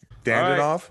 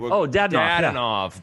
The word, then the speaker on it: Dadonov: Dandanov? All right. Dadonov. Dadonov. Right? Yeah. You butchered the saying.